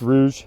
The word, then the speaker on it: Rouge: a Rouge Plant which I really want to say Rogue plant all the time I think Rogue is is a cooler name but it's pronounced Rouge and I have a